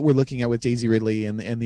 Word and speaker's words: Ridley: Daisy Ridley.